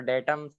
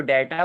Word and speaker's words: data: डेटम, सर जो डेटा word है वो सर प्लूरल नाउन है हाँ और डेटा, डेटम जो DATA, डाटा मत पढ़ना, डेटा पढ़ेंगे हम लोग। प्रोनाउंस, उसको प्रोनाउंस करना है डेटा।